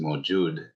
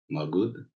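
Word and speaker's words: موجود: Yeah, and then this one is Mawjood in Urdu, but Magud. Yeah, same, just different. The G is different, but same word.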